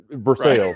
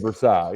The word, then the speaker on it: Versailles: Well, in Kentucky we call uh Vers Versailles Versailles instead of Versail. You know, I guess that's kind of what we do around here.